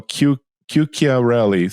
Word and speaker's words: Chiuchiarelli: So everybody knows it's not Q. It's not spelled with a Q. It's like Chiuchia. So Chiuchiarelli. So that's the way it's pronounced.